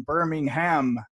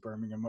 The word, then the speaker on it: Birmingham: Just to let the audience know, I did pronounce it Birmingham earlier, which is actually the English city. And being from Ireland, that's more natural pronunciation for me.